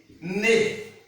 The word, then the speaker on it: nez: Nez, le nez, nose. It also pronounced like a.